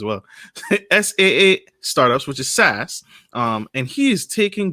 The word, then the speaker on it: SaaS: particularly business-to-business startups um s-a-a-s startups i gotta spell it out because i have an audio audience as well s-a-a startups which is sas um and he is taking businesses to the